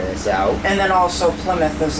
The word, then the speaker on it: Plymouth: out and then also Plymouth is like for us we I'm no Plymouth because that's where the pilgrims like arrived but to most people it's like climb out like they can't but